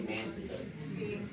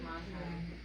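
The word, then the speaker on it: Manthey: I mean, how do you say Montai? I say Manti. Yeah, we were told it was Montai.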